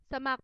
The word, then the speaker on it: สมัคร: ต่อ ไป นะ คะ คือ คำ ว่า สมัคร สมัคร เป็น มาตรา ตัว สะกด แม่ กก ค่ะ เรา ใช้ ค ควาย ร เรือ เป็น ตัว สะกด ค่ะ ตัว อย่าง ประโยค นะ